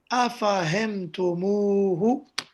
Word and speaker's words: أفهمتموه: So in this situation, what happens is that a waw is added. This waw is for ease of pronunciation. And then you add the dhamir at the end and say أفهمتموه.